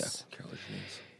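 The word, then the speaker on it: Kier-La Janisse: And how do you pronounce her name properly? Kirla Janice? Yeah, Kirla Janice.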